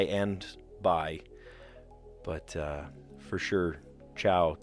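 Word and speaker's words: tchau: But for sure, ciao. And it's spelled really weird. T-C-H-A-U. And if you were to just say like, oh, C-H-A-U, that would make a sh sound. So shao, that doesn't make sense.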